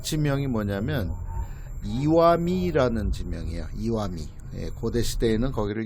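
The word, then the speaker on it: Iwami: 이와미도 마찬가지인데 바위 암자가 아니라 돌 석자를 쓰고 이와라고 읽었습니다.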